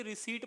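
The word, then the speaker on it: receipt: बात तो ये की यहां पे पी जो होता है वो साइलेंट होता है तो इसे रिसिप्ट नहीं पढ़ना है बल्कि रिसिप्ट पढ़ना है ठीक है तो रिसीवड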